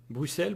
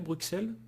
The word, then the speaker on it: Bruxelles: ou burger ravensburger ravensburger bruxelles bruxelles Bon, le terme exact c'est Bruxelles, mais il y en a beaucoup qui prononcent Bruxelles tout comme oxer.